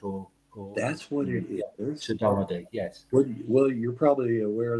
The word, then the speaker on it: saudade: So do I pronounce this right? Saudade?